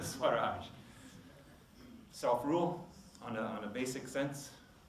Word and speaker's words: Swaraj: The second one is the other big principle, as I understand, is Swaraj. Did I pronounce that one right? Yep. Yes. Yep. Swaraj.